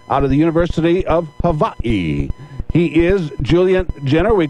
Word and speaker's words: Hawaii: Instead of Hawaii, it's Hawaii. Okay. So how did you wind up out at the University of Hawaii?